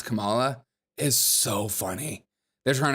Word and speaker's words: Kamala: Camala Harris K Kamala if you really want someone to listen listen to what you're saying you should probably pronounce their name right period question mark H it's it's Kama it's Kamala okay it's Kamala if you really want